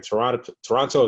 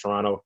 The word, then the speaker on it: Toronto: Toronto is how Americans say it. If you're from Toronto, it's just Toronto. You don't say the second T.